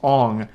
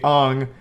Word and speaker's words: Aang: And everyone already knows this, but his name's not Aang in the movie, it's Ong. Sokka is Sokka.